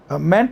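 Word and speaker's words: -ment: मेंट, एमिएंटी का जो उच्चारण होता है ना इंग्लिश में, वो मंट होता है, मंट।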